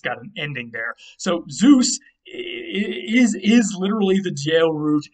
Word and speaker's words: Zeus: It wasn't just a Z like today. It was more like a DZ sound. Sometimes a ZD sound if they flip the order of those two letters.